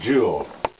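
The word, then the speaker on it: Jule: That's a jewel. J-U-L-E. It's spelled like a mule. Only same way, only with a J.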